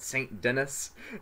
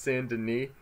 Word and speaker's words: Saint Denis: sand in E or as I call it Saint Denis but it's pronounced sand in me and I think strawberry is another city yeah